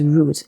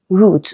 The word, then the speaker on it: route: Y exam, they usually expect root, okay? So, it's the same pronunciation as r o o t, right? A part of a plant.